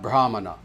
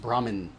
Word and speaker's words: Brahmana: So, therefore you will have Brahman, you will have Brahma, you will have Brahmana, sometimes mispronounced Brahmin.